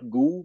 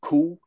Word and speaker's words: Gu: it's called pinging and the g is pronounced like a k like kangaroo so G you is not goo but it's co homing uh it's probably